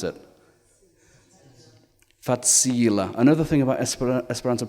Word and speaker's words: facila: Facila. Another thing about Esperanto pronunciation is that the stress is always on the last but one syllable in a word.